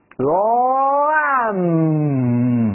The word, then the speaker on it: lamb: Lamb，哎，不要发出 budding 啊。